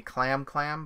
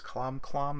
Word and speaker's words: Clom Clom: We in the U.S. would say Clam Clam, but it's Clom Clom if you go by Japanese pronunciation.